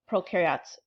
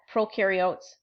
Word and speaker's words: prokaryotes: This little illustration up here shows you that prokaryotes, pro rhymes with no, both of them have a cell membrane, both of them have DNA, both of them have ribosomes.